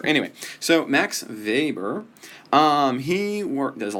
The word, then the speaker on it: Max Weber: I know that's in W but you actually pronounce it with a uh because he's German and in German w's Arva so it's Max Weber anyway so Max Weber um he worked there's a lot he's a